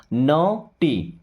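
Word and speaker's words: naughty: सी से क और स कॉज कॉस नहीं पढ़ते कॉज यहां पे भी जी एच हो जाएगा साइलेंट नोटी क्या पढ़ेंगे नॉटी ओके अभी देखिए अगर ए डब्ल्यू आता है तो इसे औ की मात्रा पढ़ते हैं।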